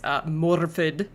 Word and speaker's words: Morfydd: It's Morfydd, I believe. There's like an expressed R there.